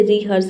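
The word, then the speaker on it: rehearse: इसमें भी हम एज को प्रोनाउंस कर रहे हैं। ठीक है? इसे रिहर्स पढ़ना है।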